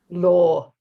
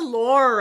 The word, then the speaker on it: law: It's not the lore of love, it's the law of love.